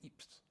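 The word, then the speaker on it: Ypres: world war, the first battle of Epip um or Eper if you prefer the Flemish pronunciation.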